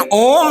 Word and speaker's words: ओम: लेकिन ओम एक ऐसा शब्द है जिसमें तीन मात्रा है। क्योंकि तीन मात्रा की वजह से वो ओम इसीलिए उसका उच्चारण दीर्घ स्वर में किया जाता है।